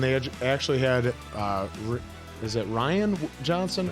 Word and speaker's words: Rian Johnson: You know, I love Smartless, and they actually had, is it Rian Johnson? How you say it? Rian Johnson, yeah.